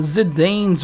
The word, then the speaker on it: Zidane: Okay guys, so we'll start this video off with the ZIDANE'S rework, and I know it's pronounced Zidane, but I really just like the sound of Zidane, okay?